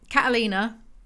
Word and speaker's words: Catalina: to lovers it's about Catalina that's how the Spanish pronounce it and Aaron and Catalina